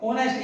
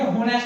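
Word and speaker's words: honest: देखिए ही इज एन ऑनेस्ट, अब आप कहेंगे कि जो ऑनेस्ट ये तो सही है, क्योंकि ऑनेस्ट का जो प्रोनाउंसिएशन है वो क्या है, ऑनेस्ट, ऑनेस्ट, ठीक है भाई, ये होनेस्ट नहीं होता, ये क्या होता है,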